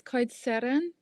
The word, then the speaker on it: Coed Seren: It's Emma from Coed Seren. Yeah. Can you do the special sound in the middle, the special R that I can't do? I actually can't roll my R's either, but it's Coed Seren.